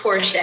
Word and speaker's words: Porcher: You didn't butcher it, but it's pronounced Porsche. It's okay. Porche.